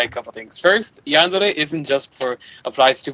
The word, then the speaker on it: yandere: males and H you're saying it correctly it's yandere okay it's basically just a um a characteristic